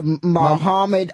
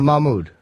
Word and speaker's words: Mahmoud: Mohammed Ahmadinejad. No, Mahmoud. Mahmoud Ahmadinejad. I don't know how to pronounce these.